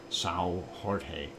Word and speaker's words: São Jorge: If you pronounce it in Portuguese, it's São Jorge.